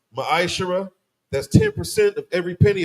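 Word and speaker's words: מעשר: Book of Malachi, chapter 3, verses 8 through 10, means 10th in the Hebrew. It's pronounced ma'ashara.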